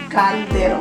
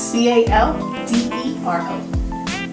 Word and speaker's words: caldero: Pronounce that again. Caldero. It's C-A-L-D-E-R-O. One more time. C-A-L-D-E-R-O. Caldero. Caldero. Yes.